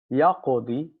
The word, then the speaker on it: يقضي: That's the original form, but pronouncing a ya with a dhamma after a kasra, meaning the dot has kasra, the dot that preceded it, is difficult. So we put a sukun and we say yaqdi.